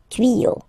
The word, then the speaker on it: tuyaux: You won't add s at the end, but instead of s, you will put x. Okay, des tuyaux. Same rule, you don't pronounce it.